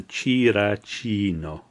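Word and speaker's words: チラチーノ: So the Japanese name for Cinccino is Chirachino. That line means that you elongate that. So Chirachino.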